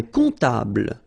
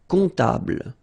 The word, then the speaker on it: comptable: Un comptable, so OM, remember, it goes like on, alright? And then, strangely, this P is not pronounced. Un comptable, alright?